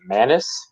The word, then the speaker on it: Maness: i believe versus uh nathan how do you pronounce it manus manus yeah man uh you know what man